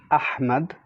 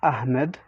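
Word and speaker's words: أحمد: you say muhammad or the name ahmad ahmad not ahmed so basically it's a heavy h and we substitute it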